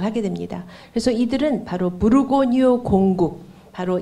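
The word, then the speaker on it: Bourgogne: 그 프랑스 중부에 있는 그 버건디를 프랑스식으로 읽으면은 무르고뉴라고 읽습니다. 그러니까 부르고뉴 그 지방, 그러니까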